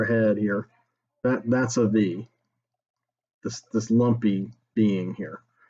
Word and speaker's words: Viy: to talk about v it's pronounced v that's the name of the movie not the v or the viz or the vi and the it's the v it's v just v and it is a